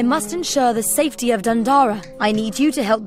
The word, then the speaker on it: Dundara: Look at you, a knight of the weird, a pact with Dundara. Of course, I love pacts. Dundora. I think it's pronounced Dundora. Dora the Explorer. Dundora the Explorer.